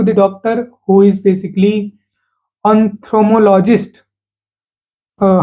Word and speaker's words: ophthalmologist: doctor go to the doctor who is basically ophthalmologist. Uh how will you pronounce it? Its pronunciation is uh kind of a very difficult. So, you call it as ophthalmologist.